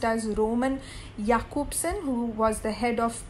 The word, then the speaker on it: Roman Jakobson: is written as roman jacobson but it is pronounced as roman jakobson who was the head of prague literary circle